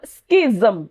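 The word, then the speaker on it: schism: A next one इज़ इट्स अ स्किजम। स्किजम देखो जब ज रहेगा तो जम। जब ज के नीचे बिंदु रहेगी तो जम। समझ में आया? स्किजम ऐसे हम प्रोनाउंस करेंगे।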